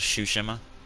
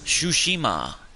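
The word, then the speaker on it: Tsushima: least a month so shushima well even if you're spelling it wrong i'm probably still saying it wrong either way it's that silent t i think it's a silent t what kind what game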